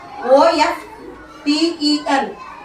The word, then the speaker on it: often: Look, O-F-T-E-N. Often. T is silent.